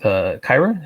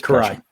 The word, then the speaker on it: Karai: And then, of course, he gets into the fight with Kyra. Is that how you pronounce it? Or was Karai, thank you. I was pronounced that wrong.